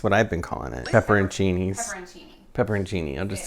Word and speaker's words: pepperoncini: was pretty sure i was saying it wrong pepperontini it's pepperoncini though and when i looked at it i